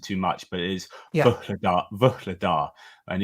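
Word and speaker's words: Vuhledar: get in trouble with because I try and pronounce it too much, but it is Vuhladar, and it's kind of but anyway.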